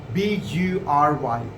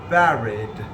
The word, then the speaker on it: bury: For example, I found people pronouncing he was buried. So it has to be he was buried in his own home. He was buried and not buried.